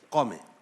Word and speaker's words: قومیں: وہ آپ قومیں کر کے قوم پھر آپ بولے تو قوم کو کوما میں لے کے جا رہے تھے آپ سمجھ رہے ہیں؟ قومیں، یہ تلفظ ہے اس کا.